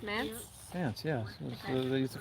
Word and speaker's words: manse: How do you pronounce this name? The old manse. It's Mance?